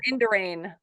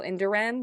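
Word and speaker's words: Indurain: rain Miguel or well I pronounced him Miguel inderain maybe it was Miguel in Duran but it was it's it's i-n-d-u-r-a-i-n it's kind of ironic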